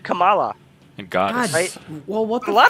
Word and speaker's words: Kamala: no no it's people Trump said Camala he started saying Kamala because he didn't know how to say her name and then he said it to be spiteful after he got after he learned the right way to say it just because he knew